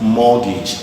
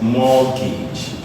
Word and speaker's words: mortgage: word is pronounced as mortgage the T is silent this is pronounced as mortgage mortgage option a cage